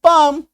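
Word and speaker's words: palm: में आप देखिएगा कि अगर एम से पहले एल आ जा रहा है तो ऐसे शब्दों में एल का उच्चारण आपको नहीं करना है ऐसे शब्दों में एल साइलेंट हो जाएगा ठीक है देखिए जैसे पी ए एल एम तो एम से पहले एल है बी एल एम एम से पहले एल है तो इसका हम लोग क्या करेंगे एल को काट दीजिए अब पढ़िए पी ए एम पम सही उच्चारण निकलेगा बी एम बम सही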